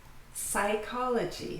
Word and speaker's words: psychology: Psychology. So when you see this beginning PS, then the P is always silent.